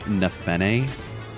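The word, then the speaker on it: Nephenee: Like, Devdin and Nafini. Also, I'm pretty sure her name is actually pronounced Nefene, but I refuse to pronounce it like that.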